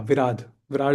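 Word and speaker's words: Viradha: was there was uh Virha yeah actually I need to yeah Vir Vad is the proper pronunciation.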